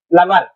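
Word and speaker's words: plumber: एम बी ई आर अब य पर बी साइलेंट हो जाएगा बी नहीं पढ़ा जाता प्लमर बोलते है इसको क्या बोलते है प्लमर ठीक है प्लमर यानी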